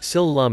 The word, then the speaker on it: Sil Lum: Sil Lum is the Cantonese pronunciation of Shaolin.